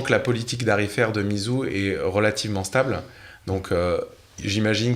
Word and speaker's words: Meizu: Quelle est la prononciation correcte ? Meizu. Meizu.